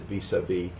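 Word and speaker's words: vis-à-vis: The phrase derives directly from French and that's why we actually pronounce it vis-a-vis. A lot of times in French the last letter is silent.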